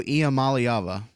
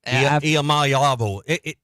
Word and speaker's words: Iamaleava: I don't even think I could spell it if it was in front of me. I can't. Nico Iamaleava. There you go. Can you say it? Iamaleava. It's Hawaiian, right? Iamaleava.